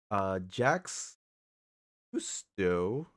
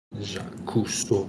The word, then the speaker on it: Jacques Cousteau: Jax Cousteau versus Steve Irwin. Did I pronounce that right? Cousteau, yeah. Jacques Cousteau.